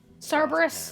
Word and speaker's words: Cerberus: Cerberus, that's how you say it.